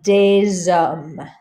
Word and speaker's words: des hommes: You don't hear the S over here or over here, but because an H acts like a vowel in French because it's not pronounced, you say des hommes.